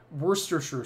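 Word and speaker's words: Worcestershire: it's a Brank tree but it's Worster sure sauce and in the end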